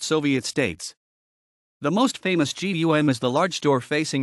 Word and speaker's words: ГУМ: G Russian pronounced gum an abbreviation of Russian TR glad Universal needs